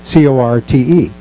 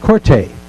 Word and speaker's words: Corte: The character's name was Corte, C-O-R-T-E. In Italy, that is pronounced Corte. That's just the Italian pronunciation.